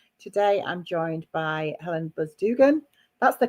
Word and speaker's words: Buzdugan: change maker interviews today I'm joined by Helen buzdugan that's the correct pronunciation isn't it Dugan buzd it is yeah